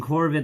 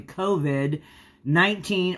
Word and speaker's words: COVID: I was saying Corvid like it was a crow, but it's actually COVID-19, also known as coronavirus.